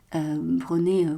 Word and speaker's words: Brené: Brené, comme ça se prononce, Brown comme la couleur marron, qui fait beaucoup de choses sur le pouvoir de la vulnérabilité.